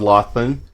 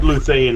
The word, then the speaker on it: Luthane: Yeah, so actually, Luthane is how I pronounce the name, but you were darn close.